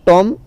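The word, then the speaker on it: tomb: फिर आता है टॉम, टॉम में बी साइलेंट है ना, बॉम में बी साइलेंट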